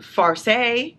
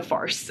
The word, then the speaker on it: farce: I got the fiance far or is it farce how do you say this word Fon farce it's a farce okay I don't like